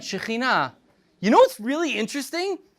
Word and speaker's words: Shekhinah: That's right, Shekhinah. You know what's really interesting? You know what's really, really interesting about the word Shekhinah? It's feminine. God's presence is feminine, not masculine. Shekhinah is feminine.